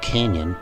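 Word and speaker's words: cañón: how to fuse interestingly the word cannon in spanish is spelled c-a-n-o-n and pronounced like the english canyon here's the definition from google translate which is more like a list of synonyms l canyon cannon canyon barrel gun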